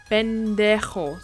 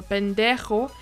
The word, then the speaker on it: pendejo: Pendejo. Pendejo. So pendejo, as you can see, the J is not pronounced as J, like pendejo, it's pendejo. So it's like a sound from the bottom of your throat.